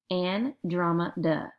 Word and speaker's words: Andromeda: how to pronounce it you pronounce it like this and drama duh number four no one